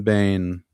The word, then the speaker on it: Bane: Yeah, my last name is Bane spelled like that. Like I Yeah, that one. Like the an the villain, the the Batman villain.